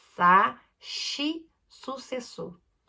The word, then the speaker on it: shi: Brasil, aqui é sa, shi, su, se, su. Não se pronuncia si. Aqui não tem a pronúncia de si. É shi.